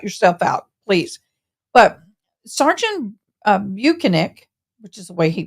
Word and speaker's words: Bukhenik: But Sergeant Bukhenik, which is the way he pronounces, I'm just from here going to call